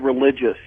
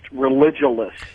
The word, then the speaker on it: Religulous: That Bill Maher movie is not called Religious. It's pronounced Religulous.